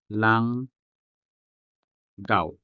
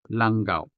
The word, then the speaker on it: langgao: Notice that the G's in these words belong to different syllables or sound systems.